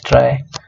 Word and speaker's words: trie: Okay, now we know how tree data structure works, or trie. You may as well pronounce it as trie.